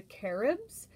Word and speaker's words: Carib: indigenous tribe called the caribs um and carob is pronounced with the accent on that a like carib um so